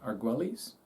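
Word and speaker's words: Argüelles: Arguelles, is that how you say it? Arguelles? Sure. Most Americans say it that way.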